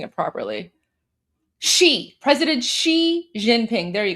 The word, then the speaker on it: Xi: She President Xi Jinping. There you go. So, Xi is she.